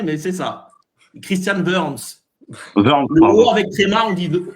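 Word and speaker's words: Wörns: Warms. Ouais, c'est mal prononcé mais c'est ça. Christian Verns. Verns, pardon.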